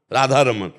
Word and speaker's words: राधा रमन: और शुद्ध शब्द है अगर उसमें उच्चारण करते हैं राधा रमण, राधा रमन और राधा रमन, राधा रमन। णा को हटा के ना, ब्रजभाषा में ना का ही प्रयोग। तो हमें चाहिए कि जो